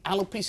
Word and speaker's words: alopecia: It's alopecia. Am I pronouncing it correctly?